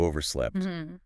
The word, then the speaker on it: overslept: And if you really struggle, you might have overslept. That means you slept past the time you intended to wake up. Hear that little t sound at the end there. Overslept.